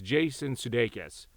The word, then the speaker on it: Jason Sudeikis: They didn't even pronounce the guy's name right, but it's Jason Sudeikis for Ted Kord and Blue Beetle 2.